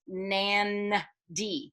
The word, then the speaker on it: Nadi: So it's written N-A-D-I, but it's pronounced Nan. D. So in Fijian, before the letter D, there's a little N.